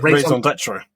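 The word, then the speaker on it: raison d'être: the fancy version of, but I forgot the pronunciation of it. Is it raison d'etre? Yes, there we go. Our raison d'etre is, of course, our patrons.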